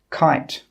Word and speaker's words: kite: The letter E is normally silent if it comes at the end of a word. For example, kite. E is also normally silent